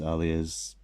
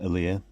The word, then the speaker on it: Aaliyah: There's Alia's no, I said her name wrong, Aaliyah is how they say it in the show.